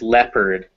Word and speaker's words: leopard: get this from uh that leo comes from the the latin leo which means lion but uh this word has been in english for a long time that leo has just it's changed to le over the years so yeah so it looks like leopard but it's actually leopard leopard leopard so now we